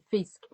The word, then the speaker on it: Fisk: A gente pronunciava Fisk.